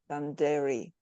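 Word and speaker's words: dadirri: pronounce it incorrectly cuz I think it's pronounced danderei and it's actually means deep listening and this is when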